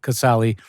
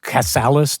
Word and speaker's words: Casale: my family you know the relatives all called me casali after that it got butchered 10 ways to Hell sure yeah there was Cass there was casalis they would have put an S on the end I don't know why Cales there was Castle they angli fied it